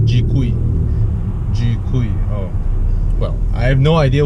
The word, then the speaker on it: GKUI: X 70 is using the name for the infotainment system is GK you've I and everyone just pronounce it as G qui well I have no